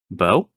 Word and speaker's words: Beau: I don't know why I was saying it the way it's spelled. Count Bo. Like David Bowie.